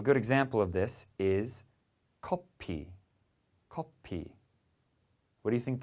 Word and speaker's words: 커피: We have the F in English, and in Korean that F sound gets switched to a P, so it's 커피.